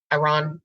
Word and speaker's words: Iran: who are from uh Iran Iran is how they pronounce it and they were lovely